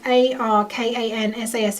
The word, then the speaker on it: Arkansas: looks like Michigan but when something says a r k a n s a s and you say Arkansas it's like well it